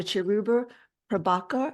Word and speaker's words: Cheruba Prabakar: Cheruba Prabakar. Am I pronouncing that correctly?